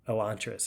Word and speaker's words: Elantris: Elantris, yeah, I think that's the correct pronunciation.